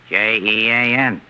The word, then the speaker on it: Jean: J E A N. And how do you pronounce that in English?